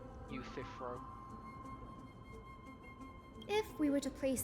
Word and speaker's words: Euthyphro: Oh, nice to know I pronounced it correctly. Euthyphro.